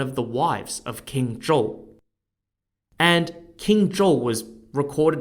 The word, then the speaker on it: Zhou: was actually one of the wives of King Joel and King Joel was recorded as being really